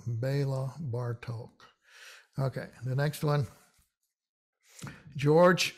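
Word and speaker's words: Bartók: on it or not doesn't really change the o it's still pronounced as an o bar talk the accent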